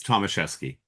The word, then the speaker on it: Tomaszeski: It's Thomaseski.